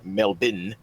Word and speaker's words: Melbourne: mall in Melbourne or as my Australian friends tell me it is pronounced melbin Australia one man would